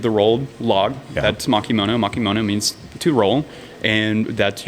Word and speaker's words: makimono: Makimono. Uh, so yeah, whenever you think of sushi, you think of the rolled log. That's makimon. Makimono means to roll.